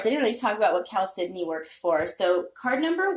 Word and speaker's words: chalcedony: what I call the Cal Sydney crystal cave so this one is Cal Sydney it spelled CH a LC e do NY phonetically it looks like Cal Sidonie or chalcedony so here's the cow